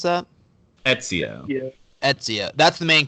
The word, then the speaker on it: Ezio: How do you pronounce that? Ezio.